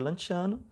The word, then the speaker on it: Lanciano: Se pronuncia Lanciano, ele duvidou, e aí Nosso Senhor, por misericórdia até a nós, né?